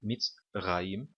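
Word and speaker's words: מצרים: Notem que na palavra mitzrayim, eu não coloquei o acento aqui, mas normalmente a palavra tem um acento aqui em cima, tá bom? Mitzrayim. Agora, o acento então está nesta sílaba. A palavra está dividida em 3 sílabas aqui, tá bom?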